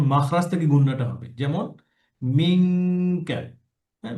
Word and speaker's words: منك: মিঙ্কা। এভাবে same thing, কফ এবং calf একই একই জায়গা থেকে উচ্চারণটা হবে, মাখরাজ থেকে উচ্চারণ হবে, যেমন মিঙ্কা, যেন মেকা না হয়।